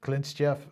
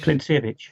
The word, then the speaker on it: Klintsevich: So here is Franz Klintsiev. Is that how you pronounce his name? Klintsevich? Klintsevich, Yeah, okay.